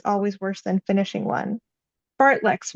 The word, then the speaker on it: fartlek: Fartleks, which the men pronounced fartlicks, could make us puke.